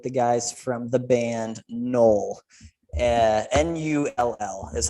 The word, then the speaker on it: NULL: But we are sitting down today with the guys from the band NULL. NULL is how you spell the name. Not like my last name, NOELL. It's pronounced the same.